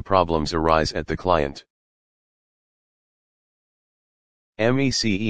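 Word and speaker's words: MECE: arise at the client m e c e m c m e c e pronounced me c stands for mutually exclusive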